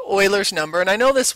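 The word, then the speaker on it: Euler: alpha it's actually called Oilers number and I know this word here uler it looks like uler like ber but uler but it's not it's Oiler is how it's SP uh pron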